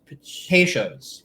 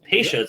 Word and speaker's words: Peychaud's: How do you pronounce it? Peychaud's. Peychaud's.